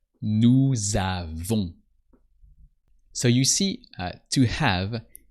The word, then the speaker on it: avons: O-N-S, and the S is silent. Nous avons.